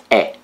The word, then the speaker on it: E: the Romanian alphabet is e it is pronounced like e in exit exit the target vocabulary